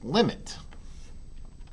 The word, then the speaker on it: lim: we get to discuss this word here is pronounced limit and it's just written l i m and it means the